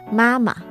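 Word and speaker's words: 妈妈: I'm just saying the proper pronunciation is mama.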